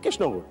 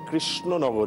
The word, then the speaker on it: কৃষ্ণনগর: তিনি তখন বলেছিলেন যে এটা কেশনগর তখন উনি বলেছিলেন না না আপনি ভুল বললেন এটা কৃষ্ণনগর পরিষ্কার করে উচ্চারণ করে বুঝিয়েছিলেন যে আমি শুদ্ধ উচ্চারণ করলাম তখন নাকি কেশনগরের সেই